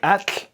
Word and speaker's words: atl: A fantastic speech sound in Nahuatl, if you say it right, is that last sound, the tl. You hear it in words like atl, meaning water, and tlali, meaning earth. It's not a sequence of t plus l, as in Huxtable, but instead it's an affricate.